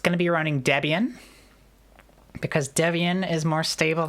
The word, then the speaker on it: Debian: But that's I believe that's how they pronounce it and that's why I pronounce it that way as well is because of that. It also does sound a lot more like lesbian when we say it like that.